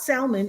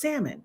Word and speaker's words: salmon: Just like the L in salmon. It's not salmon. It's salmon.